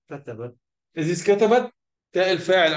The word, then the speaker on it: كتبت: So when you say كتبت, the تاء is silent, that means تاء التأنيث.